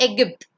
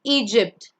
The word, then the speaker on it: Egypt: Not Egypt. That's Tamil. It's Egypt.